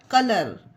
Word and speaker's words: colour: ठीक है, तो एग्जाम्पल में देखते हैं COLOUR कलर। अब देखिए इसमें यू कहीं आया, कलर हो गया, डायरेक्ट लर, कलर। GUARD guard.